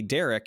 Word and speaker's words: Darick: my name written uh my name is Derek but it's spelled d-a-r-i-c-k because yeah Rick so